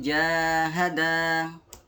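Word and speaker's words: جَاهَدَا: Di sini panjangnya 2 harokat. Jadi dibacanya wa in jahada, 2 ketukan.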